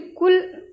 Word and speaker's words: कूल: बड़े ऊ की मात्रा का उच्चारण लंबा होता है और छोटे ऊ की मात्रा का उच्चारण जल्दी से होता है, छोटा सा।